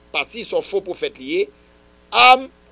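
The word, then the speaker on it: עם: Am, en hébreu, signifie people, avec Aïn, mais vous prononcez l'âme.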